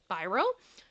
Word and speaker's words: Spiro: I've heard it pronounced Spiro I've heard it pronounced Spyro I personally like Spyro because I have a love for the purple dragon so um and I've also heard people introduce him that way so I'm going to